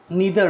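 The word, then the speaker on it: neither: जैसे क्या होता है, इधर और, नीदर नॉर, आइदर और भी बोलते हैं, नाइदर नॉर भी बोलते हैं, ये दो तरह से इसका प्रोनाउंसिएशन होता है, तो जो आप करते हैं आप अपने अनुसार से करेंगे।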